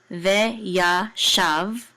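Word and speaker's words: ויָשַׁב: with this vet, because usually the shava is silent in the middle of words, so we're just going to close out this syllable, shav. Okay, shav, ve ya shav.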